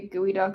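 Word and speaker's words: geoduck: I think I think it's just g eo duck, but it's pronounced gooey duck, but I could be wrong about that.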